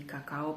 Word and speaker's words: cacao: and they encountered also the cacao plant Cacao is the right right pronunciation here but um so yeah